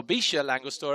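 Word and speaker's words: Villa La Angostura: as well, just outside the town of Villa Langostura, or Villa Langostura as they pronounce it here in these parts.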